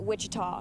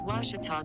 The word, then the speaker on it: Ouachita: at a baptist university back in texas everybody pronounces it wichita but really it's ouachita washington washington how would you pronounce it it's washita baptist university get it right it's water tall